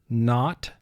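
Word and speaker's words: knot: ga as in guitar k-n represents the sound as in not rh represents the sound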